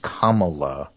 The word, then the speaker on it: Kamala: organizations I'm voting for camela Harris okay or as people point out to me uh it's pronounced Kamala not camel like in camel but CA yes that was cleared